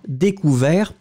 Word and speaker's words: découvert: Il a découvert. On finit avec le T, on ne le prononce pas, mais là je regarde et globalement c'est très très bien, hein, pas de problème.